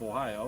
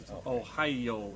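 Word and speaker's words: おはよう: hello in japanese right but it has one more syllable because japanese syllabiz everything ohio in japanese but it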